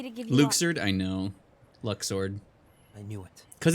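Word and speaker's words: Luxord: yeah there he is I always pronounce I would pronounce it luck sword because it makes a lot of sense but they pronounce it Luke sirden none of your concerned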